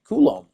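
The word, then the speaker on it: Coulombe: Koulom. Danny Koul then. Sorry, Danny. Forget your name wrong.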